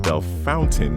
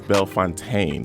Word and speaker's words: Bellefontaine: I told you that I grew up in Belf Fountain neighbors. Oh, yeah. We have to talk about the pronunciation. Yes. But it the cemetery is Belf Fontaine.